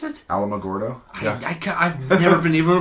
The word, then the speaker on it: Alamogordo: But yeah, it's Alamogordo. Huh. I thought that's how it was pronounced. I'm like, how the frick? I could never figure it out. Think of Alamo. That's what I was. Yeah, Alamogordo.